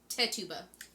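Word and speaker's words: Tituba: sorry i looked it up last night it's tetuba yeah okay sarah good and sarah osborne okay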